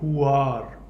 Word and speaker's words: huar: What you hear in the background is the huar breath. It's 2 syllables, hu, H-U, and the second syllable is ar, A-R.